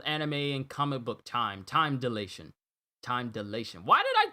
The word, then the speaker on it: time dilation: didn't i time dilation it's not time ditilation it's time delation wow i said that word wrong i said that we're wrong i'm sorry cj good old anime and comic book time time delation time delation why did